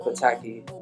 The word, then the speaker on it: Pataki: why I called it Pataki. And it's funny because it sounds like the American. Who's the? It's Italian dude, right? Pataki. Yeah. But it's pronounced the same way in Nigeria.